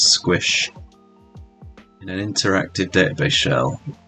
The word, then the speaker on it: sqsh: terminal we'll use the command sqsh pronounce squish in an interactive database